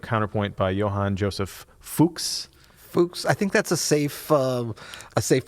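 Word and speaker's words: Fux: I thought it was F-U-C-H-S. Nope. F-U-X. F-U-X. Ooh, Fuchs. Yeah, Fuchs is what good.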